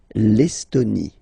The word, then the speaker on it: Estonie: Final E, not pronounced. L'Estonie.